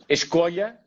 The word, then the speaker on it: Escolha: So I'm going to let you pronounce this one and introduce it for us. It's Escolha. Escolha.